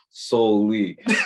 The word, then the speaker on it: SouLe: had texted me and he said it's pronounced solely so he got jokes